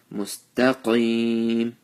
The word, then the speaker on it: مستقيم: Mustaqim, qaf with the full mouth, and ya sakin with the zer before it. Since we're stopping here, stretch it for 2 to 3 alifs.